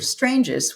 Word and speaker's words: Stranges: It's actually an Stranges. Italian, you would never know, but it's an Mhm. Italian last name. His parents were from Italy.